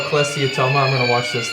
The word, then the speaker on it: cholesteatoma: mentioned before the and let's see if i pronounce this right cholesteatoma yeah yeah in in your ear which is